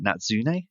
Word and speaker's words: Natsune: you um so firstly have i pronounced your name right natsune is that correct oh yeah wow i'm